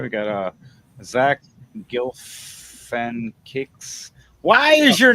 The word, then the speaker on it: Galifianakis: All right, we got Zach Galifianakis. Why is your name so hard to Jack pronounce? Galifianakis.